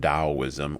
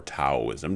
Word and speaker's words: Taoism: And we'll talk a little bit more about the path of Taoism or Taoism, depending upon what your pronunciation is.